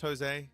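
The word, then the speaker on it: José: know because you know it's a Latin thing right where um it starts with a J but it's actually pronounced as a h and it gets a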